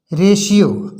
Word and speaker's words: ratio: T letter के उच्चारण के क्रम में रूल पहला है, टी का उच्चारण सा होता है कब? जब किसी शब्द में टी के बाद आई ए, आई ई या आई ओ आए तो टी का उच्चारण सा पढ़ा जाता है।